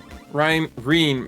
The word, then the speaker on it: Reen: Reen rhymes with clean.